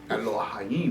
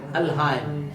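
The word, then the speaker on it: Elohim: उसको साथ है ओहाइम, एलोहाइम। इसका सही प्रोनाउंसिएशन एल हाइम।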